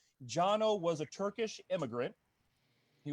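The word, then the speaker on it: Cano: was founded jono osgener okay c-a-n-o but it's pronounced giano jano was a turkish immigrant he was a turkish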